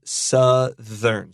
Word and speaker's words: southern: But the adjective is southern.